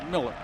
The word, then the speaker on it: Mueller: a look at miller spelled like mueller pronounced miller quick drop and